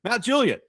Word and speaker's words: Mount Juliet: Mount Juliet, the well-known suburb of Nashville, Tennessee, is phonetically pronounced Mount Juliet, stressing the first syllable. The Juliet is clipped short rather than drawn out like the Shakespearean Juliet, which is a dead giveaway that someone is an out-of-towner.